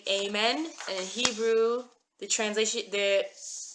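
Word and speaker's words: אמן: Amen. So in English, a lot of people say amen, and in Hebrew, the pronunciation is amen.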